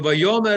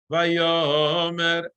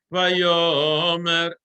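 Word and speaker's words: וַיֹּאמֶר: Vayomer Elohim, and I'm very clear that ta, the melody, tarara, vayomer, right? It's on the yud. Vayo, it's not vayomer, right?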